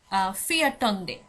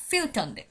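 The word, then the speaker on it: fjortonde: একইভাবে 14 যখন বলছি, আমি কিন্তু বলছি না ফিয়াটন্দে, ফিয়াটন্দে কিন্তু বলা হচ্ছে না, এখানে বলা হচ্ছে ফিয়টন্দে, ফিউটন্দে, ফিউটন্দে। মানে টা এখানে থাকছে না, এর পরিবর্তে এখানে ও ভোকালটা চলে এসেছে, ফিউটন্দে।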